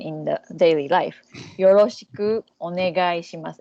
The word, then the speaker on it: onegai shimasu: So yoroshiku, then onegai shimasu.